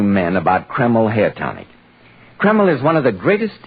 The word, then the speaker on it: Kreml: at any drug counter it's spelled k r ml keml hair tonic now Dr